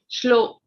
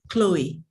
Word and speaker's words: Chloe: Moving on to Shlo. I don't know how to pronounce it. Chloe. Chloe, okay. Oh, H is silent.